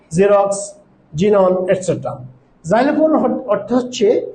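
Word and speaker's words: xerox: ওয়ার্ডের প্রথমে যদি x বসে, সেই ক্ষেত্রে আমরা যা সাউন্ড উচ্চারণ করব বা বাংলায় বর্গীয় যা সাউন্ড উচ্চারণ করব, যেমন জাইলোফোন, জেরক্স, জিনন এটসেট্রা।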